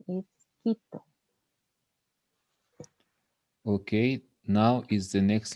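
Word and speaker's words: Quito: it okay that's the wrong pronunciation the right pronunciation is kitto okay now is the next letter the nightmare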